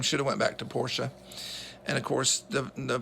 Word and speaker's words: Porsche: actor that he is he needs to learn how to pronounce Porsche that got on my nerves that he called Porsche Porsche and it's a German last name Bootsy ferdinand porsche started